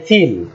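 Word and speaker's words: فَ: ফা ফ্যান ফা মাশাল্লাহ ফার উচ্চারণের জায়গাটাও খুব সহজ এটাও ঠোট থেকে বাট এটা হল নিচের ঠোট এবং উপরের দাত আমরা মাখাজটা মনে রাখবো উচ্চারণের জায়গাটা উপরের দাত নিচের ঠোট ঠিক আপনারা ছবির মত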